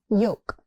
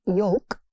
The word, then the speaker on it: yolk: Yolk. The L here is silent, so it's not yolk, it's yolk.